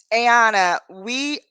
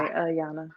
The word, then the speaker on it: Ayana: So, Ayana, am I not, is it A or I? Ayana, I'm sorry, I want to pronounce it It's correctly. uh it's a short Ah, A, Yana. Ayana. Okay.